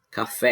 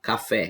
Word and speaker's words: café: como eu tinha explicado café é oxítona ou em cabelo é a penúltima sílaba mais forte tão penúltima ela é paroxítona café como é a última sílaba mais forte ela é oxítona lâmpada como é aconter